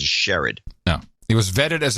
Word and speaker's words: Sherrod: Brown was vetted as it's Jared, Jerrod. Brown. Well, they always pronounce it Sherrod.